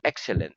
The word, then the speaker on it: excellent: in the word excellent the accent in the word excellent the is on the first syllable the first syllable very